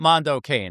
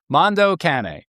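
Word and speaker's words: Mondo Cane: So specifically the wave that started with the film Mando Cana in 1962 and I think I'm pronouncing that right. Mondo Cana. It's not Mondo Kane. I know that. Mondo Cana.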